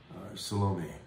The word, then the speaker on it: Salome: the jewish historian as solomon salome that'll be the way you want to pronounce it the word translated girl